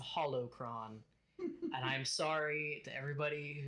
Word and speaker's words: holocron: a little bit um it's not a whole cron it's a holocron and I'm sorry to